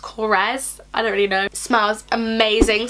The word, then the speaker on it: Korres: went to Greece and it's from grace it's pronounced Korres I already know smells amazing so they have